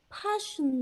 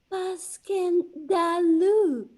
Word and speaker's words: Passchendaele: was so strange to hear you call it passion there why if i may ask because that's the way i pronounce it to myself but i look it up and it's more like baskin dalloon bless you all the tommy's call it plot